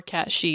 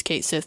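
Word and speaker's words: Cait Sith: or cat she if you want to pronounce it right but he's Kate Sith to me as a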